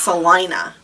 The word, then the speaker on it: Salina: It is spelled Selena. Like the name Selena, but it's pronounced Salina. And I got corrected when I went to you there. will get corrected. Salina?